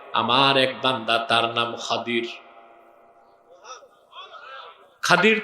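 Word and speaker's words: خضر: এক বান্দা, তার নাম খাদির। খাদির তো বুঝেন নাই, যাকে আপনারা বলেন খিজির, ওনার নামটা কি? খাদির, বিফাতহিল খা ওয়া কাসরিদ দাদ, খাদির। আমরা বলি খিজির, এটা ভুল উচ্চারণ। শুদ্ধ উচ্চারণ কি? খাদির।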